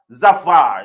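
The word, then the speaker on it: Zafar: what is a Safar zavar zfar z a f a r how do you pronounce that zavar so zavar zavar BS to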